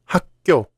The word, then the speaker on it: 학교: How do you pronounce this word? Like 학교? No, it's 학교, because when the final consonant of the first syllable ends with 기역, 디귿, 비읍, and the second syllable begins with the consonants 기역, 디귿, 비읍, 시옷, 지옷, these consonants are pronounced as 쌍기역, 쌍디귿, 쌍비읍, 쌍시옷, 쌍지옷 instead. For example, 학교 is one of those cases.